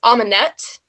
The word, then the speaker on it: Amunet: want to call it, his consort was Amunet, A-M-E-N-E-T, but the French pronunciation of that is Amune.